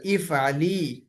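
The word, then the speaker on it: افعلي: ইফ আলি, উচ্চারণটা হবে ইফ আলি, তুমি একজন স্ত্রী করো।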